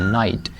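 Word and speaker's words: knight: कुछ वर्ड्स में जो लेटर्स होते हैं वो साइलेंट होते हैं कंप्लीटली। जैसे लफज़ है नाइट।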